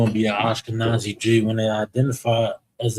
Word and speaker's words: Ashkenaz: Ash, ka, nas. Ash, kanaz. The and the sha is connected, making it one syllable. Ash, ka is standing alone. Ka, the na and the za is connected. Ashkenaz.